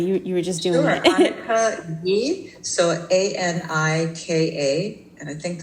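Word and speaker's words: Anicka Yi: Could you pronounce her name for me again? I'm sorry, you were just doing it. Annika Yi, so Anika, and I think the last name is Y-I.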